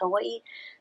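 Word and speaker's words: Hawaiʻi: You've heard Hawaii, it has an okina between the two eyes, Hawaii.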